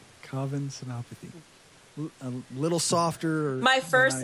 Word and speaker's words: Senapathy: My name is Covenathy. Covenopathy. A little softer. My first name um rhymes with oven.